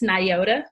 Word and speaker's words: Nyota: your business okay well first it's Niota it can be kind of weird to pronounce because you've probably never seen a name like that before and um I'm a